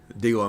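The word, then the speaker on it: D'Lo: D-Low, Mississippi.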